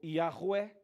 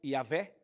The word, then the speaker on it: Yahweh: Então, para que o nome de Deus pudesse ter uma pronúncia, as pessoas tiveram que, na hora de traduzir o nome de Deus, tiveram que colocar vogais. Então ficou Yahweh, ou Yahvé, no português, Yahweh, Yahvé.